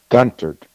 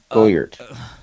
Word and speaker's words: Goedert: Guntert. Guntert? There's no N. Goedert.